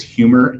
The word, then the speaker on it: Huemor: They're a PR agency, and their name is Humor, and it's spelled HUEMOR, and they just rebranded to humor.rocks.